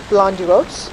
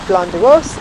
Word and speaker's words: Blönduós: So Hóp lies in North Iceland, near the town of, I think it's pronounced Blönduós.